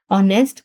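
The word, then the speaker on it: honest: For example H यहां पे silent है हमारे पास क्योंकि ये इनिशियल कॉसोनेंट है। ओ हमारे पास वोवेल है ऑनेस्ट गर्ल।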